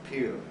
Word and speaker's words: Pierre: to pronounce anything French even our capital is Pier everybody else might think it'd be called Pierre South Dakota but we call it Pier so at any rate